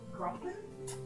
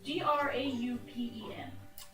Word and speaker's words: Graupen: Grumpen? It's Graupen. G-R... Aupen. Graupen. Just to push emphasis on the R.